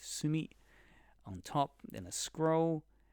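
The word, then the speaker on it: 墨: An ink stick, pronounced sumi, on top, then a scroll, makimono, in the middle, and a fan, sensu, at the bottom.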